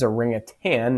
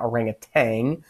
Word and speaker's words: orangutan: orangutans up there and it is a ring of tan not orangutang we sometimes pronounce that incorrectly but they live on